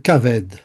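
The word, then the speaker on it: כבד: Et ça se prononce kaved.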